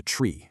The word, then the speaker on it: trie: And then we have the tree, that's spelled t r i e.